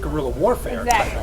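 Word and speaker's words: guerrilla: and he was like it's like gorilla like like gorilla Warfare exactly that's exactly what it's spelled like so it's not the g o r it's g u e r r right so it's like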